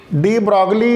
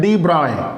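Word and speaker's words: de Broglie: इसका नाम ऐसा लगता है लेकिन बोलते नहीं है, ठीक है, आपके बुक में ही लिखा है इस चीज़ को कैसे प्रोनाउंसिएट करते हैं, डी ब्रॉय। इट is pronunciate as ए डी ब्रॉय।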